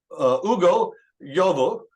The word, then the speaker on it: Ugo Yovo: I am the Director of Church Multiplication for the Midwest District, and I'm having a conversation today with Ugo Yovo, and hopefully I pronounced that correctly.